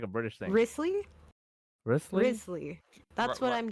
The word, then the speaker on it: Wriothesley: Risley's.